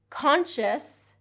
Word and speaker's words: conscious: Number 9, conscience, conscious, and conscientious. Okay? Conscience, conscience has that NS, conscience. Conscious is conscious, okay? Conscious. Conscientious, conscientious has 4 syllables there, conscientious.